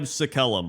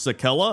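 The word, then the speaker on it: Sacellum: And number 1 is the Scribe Sakellum, which is actually pronounced Sakella. I didn't know that.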